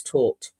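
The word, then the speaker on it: Tóth: Uh, you pronounce it taught as in Alex taught um Liverpool a football lesson.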